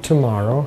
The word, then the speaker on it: tomorrow: Tomorrow. Хорошо. В слове tomorrow очень удобно произносить первые два звука t. Не u, вот это русское, такое раскатистое. Tomorrow. Tomorrow. Tomorrow. Очень мягкий звук.